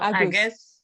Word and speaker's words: agus: Nolle Kriel, Agus. Agus. Lena Agus. Agus. Lena Varur. Well, I thought and was is apostrophe s. And that is a short form of it. Okay. That the long form is Agus.